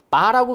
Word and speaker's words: VAR: VAR 이라고 쓰고 읽을 때는 바라고 그냥 읽으시면 돼. 바. 이게 원래는 볼트, 암페어, 리액티브 이런 뜻이야. 근데 그렇게까지 공부할 필요 전혀 없어요. 그냥 바라고 읽으시면 됩니다.